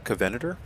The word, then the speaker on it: Covenanter: to be looking at the kavanader i believe is how you pronounce this tank or covenant or whatever